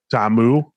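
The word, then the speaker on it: Ta'amu: through this process, Jordan Tammu. I don't know if that's the right way. Tammu. Yeah, that's the right way to play it. The right way to pronounce it, I should say.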